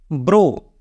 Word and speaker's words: brow: ब्रो, ब्रो, BROW, तो यहाँ पे ओ का साउंड छिप जाएगा, ब्रो।